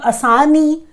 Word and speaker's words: Asani: So I'll start with the first question, which is Cyclone Asani. That is how they are pronouncing it.